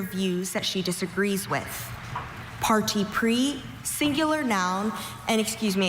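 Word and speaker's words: parti pris: Your word is party pre. May I have all the information? Party pre is the only pronunciation.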